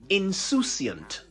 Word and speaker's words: insouciant: This is one of those words the English inherited from the French, who spell it the same way but pronounce it insouciant.